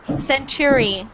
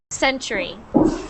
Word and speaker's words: century: like for example uh you said centuy instead of century mm gotcha okay F